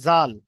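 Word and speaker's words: ذال: না পড়ে দিই, জাল, জাল বলবেন না কেউ, কারণ এটা জাল, এটা হালকা করা হবে। এটা যখন উচ্চারণ করবেন সবাই, দেখেন এ, জিভের আগা এবং উপরের দাঁতের আগার সঙ্গে ঠেকবে, জিভের আগাটা গিয়ে উপরের দাঁতের আগার সঙ্গে ঠেকে জাল উচ্চারণ হবে।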